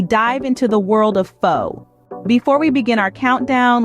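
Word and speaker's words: phở: Pho, pronounced as pho, is thought to have been influenced by both Chinese and French cooking.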